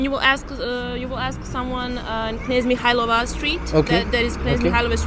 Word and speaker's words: Knez Mihailova: Knez Mihailova. So, I'm not pronouncing it. Can you be a little louder? Nesmikhaiola.